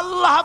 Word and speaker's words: আল্লাহ: পাকের নামের উচ্চারণ হচ্ছে আল্লাহ মুখটা একটু গোল হয়ে যাবে বলেন আল্লাহ আল্লাহ সুবহানাল্লাহ